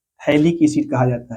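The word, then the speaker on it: phthalic: Benzene 1,2 di carboxylic acid को थैलिक acid कहा जाता है। PH THALIC, यहाँ पे PH साइलेंट है।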